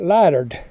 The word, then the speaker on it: lightered: This is called lighter, but we call it in the south, we call it lightered. We add a D to it.